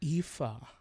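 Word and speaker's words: Aoife: she just goes okay the name is spelled a-o-i-f-e how do you pronounce that wrong no no wrong nope let me close hey oh e IFA now how do you pronounce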